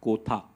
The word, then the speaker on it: Kotha: guys to tell them it is king of kotha and not the usual Hindi pronunciation um so it's in